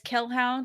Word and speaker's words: Kelhound: I'm on Twitter as Kelhound, which is spelled like Hellhound but with a K.